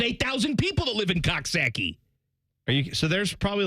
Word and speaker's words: Coxsackie: pronouncing I will then tell me how to say this c x s a c k i e saaki yeah you're okay all